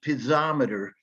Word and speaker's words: piezometer: for introducing that term but it's piezometer is a is the pronunciation um and that is